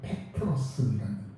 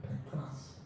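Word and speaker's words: Πέτρος: 베드로라고 하는 말을 정확한 발음으로 말한다면 페트로스라는 페트로스.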